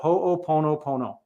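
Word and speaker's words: hoʻoponopono: it's a real word is called hoop Pono Pono that's what the word is called that's how you pronounce it it's a forgiveness ceremony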